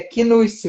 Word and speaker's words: Knust: É igual me pergunta, o Knust é Nust ou Knust? É Knust. O K não é mudo, a gente fala o Knust mesmo.